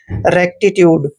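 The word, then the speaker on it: rectitude: पढ़ते हैं रेक्टी ऐसे टी टी को फिर से ट पढ़ना है य को य की मात्रा पढ़ते हैं ऐसे य पढ़ना है और डीई का उच्चारण ड करते हैं रेक्टीट्यूड दोस्तों रेक्टीट्यूड का मतलब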